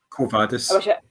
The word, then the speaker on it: Quo Vadis: Quo Vadis. You don't with Latin. You don't have any inflections in the language. You just say it as it's written.